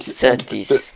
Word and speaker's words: Söttis: Söttis. Betonung, Söttis. Betonung liegt auf Söttis.